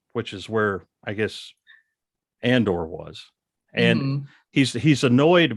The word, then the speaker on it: Andor: Stellan Skarsgard um and pronounces Cassie and Ander Andrew which I enjoy although he starts calling him Andor in later episodes so I guess he's he's been corrected but um you didn't see